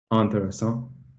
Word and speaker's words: intéressant: Intéressant.